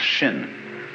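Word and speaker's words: 心: please pacify my mind in Chinese mind is um this word pronounced shin and shin is here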